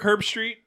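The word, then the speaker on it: Herbstreit: fun going to Ogden Utah yeah fun Kirk herb street is that how you say his name yep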